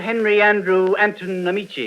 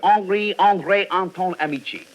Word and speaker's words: Henri André Anton Amici: Henry Andrew Anton Amici. Oh, no, monsieur. No? Pardon, but you do not say it correctly. The name is Monsieur Henri André Anton Amici. Well, we'll call you Slug for short.